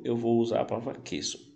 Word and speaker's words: queso: Como exemplo, eu vou usar a palavra queso. Perceba que o U não é pronunciado, não existe trema para a letra Q, apenas lá para a letra G. Então se diz queso, que a tradução seria queijo.